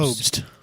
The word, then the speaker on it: Pobst: Popes? Pobst. Pope, because there's a B in it. Popst. It's not Pope.